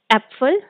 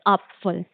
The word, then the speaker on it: Apfel: Like if we have APFEL, which is apfel, but in German we will pronunciate as apfel, क्योंकि A का sound आ होता है तो apfel.